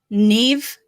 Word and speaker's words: Niamh: Neve, but it was spelled Naimh. That's the creepiest shit. My two exes, Neve and Siobhan.